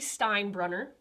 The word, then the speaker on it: Steinbrunner: So today we have Ellie Steinbrunner. Did I pronounce that correctly?